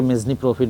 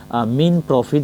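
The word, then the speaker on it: mesne profit: সেটা হচ্ছে মিন প্রফিট অনেকে এটাকে মেজনি প্রফিট বা অনেক কিছু বলে থাকেন বাট বেসিক্যালি এটার উচ্চারণটা হবে হচ্ছে মিন প্রফিট বলতে আসলে বুঝায় একজন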